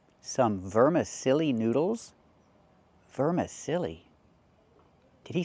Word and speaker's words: vermicelli: vermiche- vermicelli These are vermicelli noodles. They're very thin. Not vermicelli, but vermicelli. Let's practice.